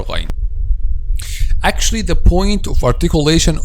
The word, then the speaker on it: غ: Actually, we pronounce letter Ghayn from the top part or the beginning part, this part which is closest to the mouth.